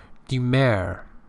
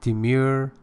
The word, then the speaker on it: demur: Demur, British, demure, American.